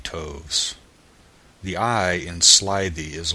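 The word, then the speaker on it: toves: that has often been asked me how to pronounce slyy toes the eye in slyy is long as in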